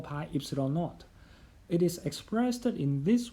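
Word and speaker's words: ε₀: them in unit meter this symbol pronounced as epsilon naught is a constant called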